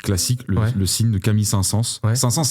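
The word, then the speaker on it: Saint-Saëns: le signe de Camille saint sens sa sens ça s'écrit sain comme un sain mais s a e n s sens c'est pas sens comme le sens allez écouter cette mélodie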